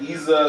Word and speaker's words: Isa: It's like Isa, like you want to go to Ibiza, but you was like Nisa.